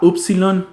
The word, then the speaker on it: upsilon: en tomate luego tenemos la upsilon que es la u como en uno solo que en algunas